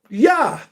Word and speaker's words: Yah: It says Jah because you know ain't no J there. Yah.